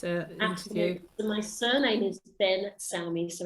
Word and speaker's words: Ben Salmi: listening to this uh attitude my surname is ben sammy so it's spelled b e n n phenomenon space no